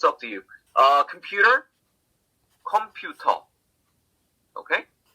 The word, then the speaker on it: 컴퓨터: 컴퓨터. Okay? I mean, the number of syllables is the same. 3 syllables, computer. Okay, in English. 컴퓨터, 3 syllables in Korean.